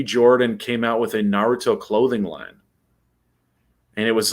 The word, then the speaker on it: Naruto: Casting for live action Naruto movie underway.